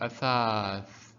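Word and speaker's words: أثاث: So so athath, athath, and the tha at the end in the brown color, it is silent because we're stopping again. So athath, athath means furniture.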